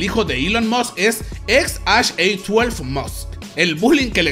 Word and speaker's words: X Æ A-12: El nombre se pronuncia XHA12 y su significado es